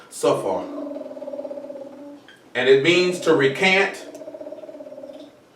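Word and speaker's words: ספר: The word scribe will be kafar. It'll actually be pronounced, my bad, it's pronounced safar.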